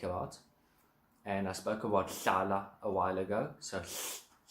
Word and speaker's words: hlala: And I spoke about hlala a while ago. So lifting your tongue up to your palate and blowing out through the sides. A word like hlala comes out of that.